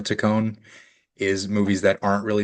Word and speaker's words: Taccone: So, oh, I just realized I've been pronouncing his name wrong. It's It is Yorma, but his last name is Takone. Takone.